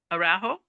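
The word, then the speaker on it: Araujo: How do you pronounce your name, sir? Ajo.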